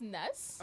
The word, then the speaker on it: N3S: Well, it's actually pronounced Ness. Okay, Yeah, so Ness. Ness.